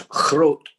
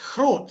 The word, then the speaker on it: Groot: Ian, it's Groot. It's Groot. Thank you very much. Not being from the country concerned, I wasn't aware of the pronunciation.